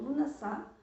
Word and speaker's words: Lughnasadh: embaixo para vocês, mas ele se pronuncia como Lughnasadh, que ele acontece em 1º de agosto no norte e 1º de fevereiro no sul.